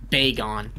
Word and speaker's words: Bagon: up the caby pronunciation people say beon but it doesn't make any sense I guess it does because it's gone gone yeah but in English you can pronounce a as an A or a you know I Pokemon B Bon I think um to sarab it is pronounced drum roll please beon it's a bon is